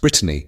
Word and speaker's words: Britannia: One, Britannia, pronounced Brittany, a golden retriever who served at ground zero after 9/11.